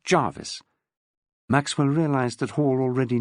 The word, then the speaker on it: Gervais: Gervais, pronounced Jarvis.